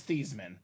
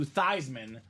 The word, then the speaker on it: Theismann: your family name is Thiesman. We know you've been Thiesman all your life. Let's change the pronunciation of your name to Theismann so we can say Theismann for the Heisman.